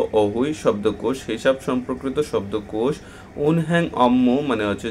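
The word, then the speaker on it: 은행: পার্থক্য আছে এখন দেখেন যদি নিয়ন বাচ্চিমের পরে হিউত আসে তাহলে নিয়নটি হিউতের জায়গায় চলে যায় এবং হিউতের উচ্চারণটি হয় না উজ্জ্ব থাকে এটা বলা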